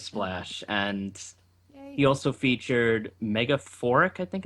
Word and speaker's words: Megaphoric: is from Turquoise Splash, and he also featured Megaphoric, I think it's called. Is that how it's Yeah, pronounced? that's how it's pronounced. Yeah. Okay, Megaphoric and Jof the Loaf, and the song is